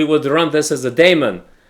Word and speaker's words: daemon: Normally, what we would do is we would run this as a daemon. Demon. As a demon. That's That's the correct pronunciation.